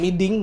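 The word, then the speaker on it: Mỹ Đình: away ya ke stadiun miding bacanya miding Bos miding miding bacanya tuh miding miding ya kan bukan bukan maiding jadi n sama h tuh jadi Eng kalau di di Vietnam terus kita akan menjamu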